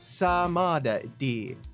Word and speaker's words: Samadi: apparently, the Japanese pronunciation is Nayuta Samadi. Samadi. Ma as in what you Southern boy calls his mom.